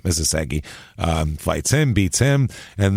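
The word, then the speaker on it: Isaszegi: Robert Isagagi, or Isasagi, that's his name, Isasagi, fights him, beats him.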